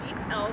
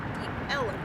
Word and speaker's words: Deep Ellum: The area was called Deep Elm, or as early residents pronounced it, Deep Ellum.